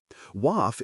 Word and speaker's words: WAF: WAF is a one-beat word that rhymes with half, which helps in the lightning round.